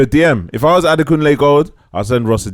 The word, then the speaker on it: Adekunle: If I was Adekunle Gold, I'll send Ross a DM. Yeah, just politely. Like, yo, this is how you pronounce my name. Yeah. This is how you Ade Kunle.